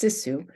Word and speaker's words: sisu: The license plate holder and mug use most recurring linguistic features we found, sisu, or what's locally pronounced sisu, and you can see it roughly translated on the mug.